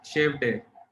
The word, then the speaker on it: Shevade: Name is pronounced as Shave Day.